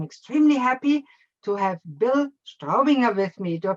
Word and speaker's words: Straubinger: happy to have bill straubinger with me do you pronounce it right bill oh your pronunciation was great that was a german pronunciation we said don't say strobing or we say strawberry